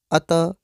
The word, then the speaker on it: अतः: और जैसा कि हमने आपको बताया कि इसका उच्चारण ह की तरह होता है तो हम कहेंगे अतः।